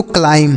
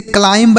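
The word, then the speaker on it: climb: इसे पढ़ेंगे दोस्तों क्लाइम। क्या पढ़ेंगे? क्लाइम। इसे क्लाइंब नहीं पढ़ेंगे। अभी हमने आपको सिखाया कि अगर एम [नाक से की जाने वाली आवाज़] के बाद बी लिखा हो तो बी साइलेंट होगा।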